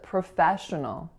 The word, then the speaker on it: professional: on its own so the first syllable has awah Pro our second syllable is the winner it's Fe and then